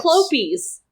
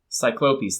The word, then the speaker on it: Cyclopes: How do you pronounce the plural of Cyclops? Cyclopes. Cyclopes, thank you.